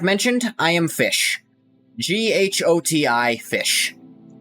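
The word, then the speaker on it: GHOTI: G-H-O-T-I, Fish. It's pronounced Fish.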